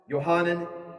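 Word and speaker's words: Yohanan: when johannan the Baptist John the Baptist johannan the Jewish pronunciation baptized him in the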